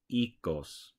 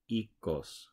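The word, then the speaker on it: Oikos: I being coy however in Greek the O I is actually pronounced e like in seed so remember the Greeks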